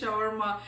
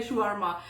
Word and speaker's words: shawarma: country you are from india pakistan they say shawarma in if you go to the arabic place in arabic pronunciation they say shwarma so shower mash verma